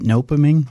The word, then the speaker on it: Nopeming: Is it nopeming? Is that how you pronounce it? Yeah, nopeming. Nopeming.